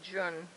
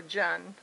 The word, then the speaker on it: Jun: So it's a green tea honey Jun, or Jun. Everybody pronounces it different.